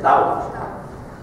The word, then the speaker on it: тау: Это не ти читается, это читается тау.